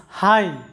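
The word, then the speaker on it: high: যখন কোনো একটা সিলেবলে ভাওয়েলের পরে GH আসে তখন GH-টা সাইলেন্ট থাকে। GH এর কোনো উচ্চারণ হয় না। যেমন উদাহরণস্বরূপ দেখো HI GH হাই যেটার বাংলা অর্থটা হচ্ছে উচ্চ। তো এই যে হাই শব্দটা লক্ষ্য করো যে I এর পরে GH আছে যার কারণে GH এর উচ্চারণ হয় নাই।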